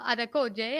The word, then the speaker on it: Adekoje: latest series unleash your story we have maxwell adekoje i hope i said it right that's that's fantastic no i tell you what you're 1010.